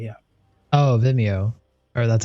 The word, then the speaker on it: Vimeo: Vimeo. Yeah. Oh, Vimeo. Or that's how I pronounce it.